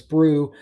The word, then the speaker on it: Brewu: Um, heard the U is silent. It is Brew. Oh, okay. Thank you for that. Irish eyes. I did not know that. So, Francis Brew, if Onier gets another